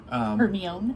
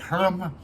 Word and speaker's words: Hermione: Hermione. Yeah, because I was like, Hermes. I know it's not Hermes, but anyway, that's kind of as a kid, I was like, you know, Hermes.